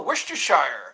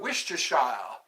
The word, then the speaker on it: Worcestershire: That's what the Worcestershire. Okay, I remember that Worcestershire. I was reading that and I go, what's Worcestershire? Worcestershire. It sounds like an English, you know, a British. I am from Worcestershire.